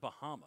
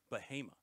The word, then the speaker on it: Bahama: from Baha North Carolina it's not Bahama they pronounce it bahima which is interesting we